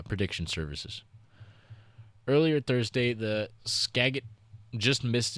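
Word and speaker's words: Skagit: I think it's Skagget uh river rose just above its record Thursday night in Mount Vernon. According to National Water uh prediction services earlier Thursday, the Skagget just missed its previous record as flooding Scadget.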